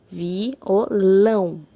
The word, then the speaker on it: violão: primeira palavra de exemplo violão Olha lá violão a mais forte foi a sílaba lam por isso ela é uma oxítona é a última sílaba